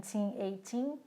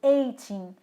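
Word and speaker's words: eighteen: De 13 a 19, a sílaba tônica está no tim. Então, por exemplo, 18, não é 80 ou 18, 18.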